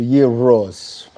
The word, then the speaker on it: euros: Just in Greece last month, they pronounced it euros with a rolling R. Yep, so euros.